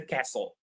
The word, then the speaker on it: castle: So, this is a castle. It's an old building where kings in the past used to live. We call them castles. and the T is silent.